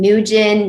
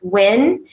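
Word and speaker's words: Nguyễn: last name correctly and no win nugent you know it's win actually it's win but you probably can't pronounce it correctly anyway but i will tell you how it's pronounced and um for me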